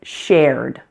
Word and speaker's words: shared: Now the first ed ending word was shared. Shared. This one has one syllable. It may look like it should have two syllables, but in fact, we only pronounce the one vowel sound.